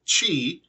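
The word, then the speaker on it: qi: knucklehead who decided that the borrowed Chinese word that we pronounce Chi as in cheetah or cheater or Cheetos whatever who decided that that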